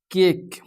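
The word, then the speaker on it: cake: जहाँ पे केक, यहाँ पे केक बोलने पर ई जो है आपका साइलेंट आ रहा है।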